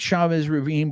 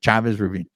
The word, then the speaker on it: Chavez Ravine: of my Heritage and I'm pronouncing it Chavez Ravine Chavez Ravine I'm sorry Chavez Ravine before before everybody on